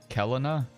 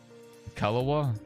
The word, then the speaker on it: Kelowna: do you pronounce it kelina kalawa I think they were uh Vancouver but they may have changed k-e-l-o-w-n-a so it's like the calendar Rockets I think is